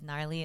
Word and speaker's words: Gnarly: what happened yes yes um my name is narly uh I also go by but